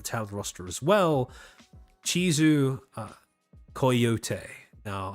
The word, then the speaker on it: Coyote: roster as well, Chizu Coyote. Now, I understand that that's not how you say coyote, but that is how Chizu pronounces her name.